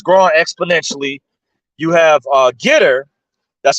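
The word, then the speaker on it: Gettr: uh that has grown exponentially you have uh getter that's spelled g-e-t-t-r-r-r maybe something like that g-e-t-t-r you can look it up it's similar to uh Twitter it's called getter it's it's a large platform you have Frank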